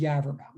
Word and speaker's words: Yaverbaum: I mean, but again, my name is Yaverbaum. So, obviously there've been some, with a name that rhymes with Cadaver Town.